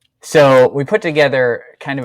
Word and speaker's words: Seuss: an interview he said it wasn't pronounced Seuss it was like so but I don't know